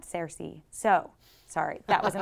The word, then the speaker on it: Cersei: much flack for it, George R. Martin pronounces Cersei Cersei. And years ago I started pronouncing it that way. I got so much flack for it. And even if you watch the show, the actors and and everyone else, they say Cersei in their British accents, not Cersei.